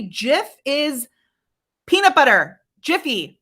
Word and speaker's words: GIF: And I have to say, GIF is peanut butter. Giphy, right? It is graphics. It's graphics that we're talking about, which you pronounce with a G sound, like the back of your tongue.